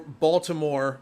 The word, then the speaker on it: Baltimore: a total Muppet but it's with a t Baltimore Baltimore with a t Baltimore but if you have the Maryland accent say Baltimore and you say it like it as a d instead of a t that's a very it's